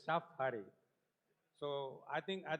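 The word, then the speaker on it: Shaphari: So many times I just say Safari, but it is Shafari.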